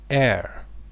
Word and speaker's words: heir: increase magnification all right the first word is air remember age is not pronounced it is called silent like our you